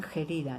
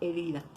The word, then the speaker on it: herida: Sin embargo, yo no he escuchado que en otros pueblos digan gerida, ¿eh? Siempre se quedó la H como muda y dice herida.